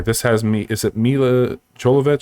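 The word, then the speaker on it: Milla Jovovich: on that there this has me is it mila cholovich say you pronounce her name is that correct yes um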